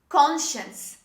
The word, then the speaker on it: conscience: this is not functions the second letter c is dropped when we say this word the next word this is conscience say with me conscience